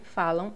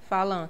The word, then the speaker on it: falam: Falan, falan, falan, que nem você pronuncia cã. Fal. Só que não, você não pronuncia falan, você pronuncia falam, como se tivesse um u aqui no final.